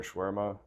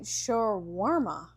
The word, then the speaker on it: shawarma: Yeah, I mean, that's how it's in Arabic. Shawarma.